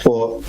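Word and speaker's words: Fond: We have a beautiful family fun day, grand second anniversary family fun day at 4 Plainfield. It's spelled F-O-N-D fund. Yeah, it is pronounced by the locals as 4.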